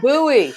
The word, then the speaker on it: Bowie: There's Jose from Bowie, Maryland. That's not too far from you, is it? No, it isn't, my dear, but we pronounce it Bowie.